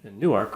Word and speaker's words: Newark: it's new york and here in delaware we call it newark and people say that's not newark it's newark it's newark that's in jersey that's new jersey that's in jersey that's the newark international airport in newark new jersey uh here we just